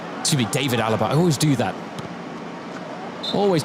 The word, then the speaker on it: David Alaba: Thomas Müller Philip L David Alaba excuse me David Alaba I always do that always do that with his name it's just such instinct to pronounce it the German way but for a couple